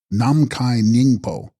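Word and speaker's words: Namkhai Nyingpo: Text: Nam Mikani Snyingpo, pronounced Namkai Nyingpo, Sanskrit Akasha Garbha, womb or matrix of the sky.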